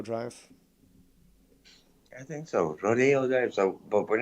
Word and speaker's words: Rodeo: Rodeo Drive. I think so. Rodeo Drive.